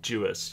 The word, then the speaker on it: Dewis: Although, that's not how you say his name. You know, it's Glenn Dewis. You know, that's the Dewey, British. The it, British Dewis. Dewis is how the British pronounce it.